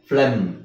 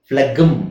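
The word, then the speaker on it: phlegm: ಅಲ್ವಾ flex so ಏನಾಗುತ್ತೆ ಇದು ಫ್ಲೆ ಜಿ ಎಂ ಫ್ಲೆಮ ಫ್ಲೆಮ ಫ್ಲೆಗಂ ಅಲ್ಲ ಜಿಎಂ ಅಲ್ಲಿ ಎಂಡ್ ಆದ್ರೆ ಕೊನೆ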